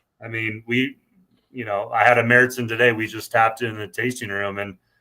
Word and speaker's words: Märzen: But points to you too, because you said Märzen, which I was enjoying because it's just like I see some people say Marzen, and it's like that's not. Yeah. I mean, that's the American version, I guess, pronounce it.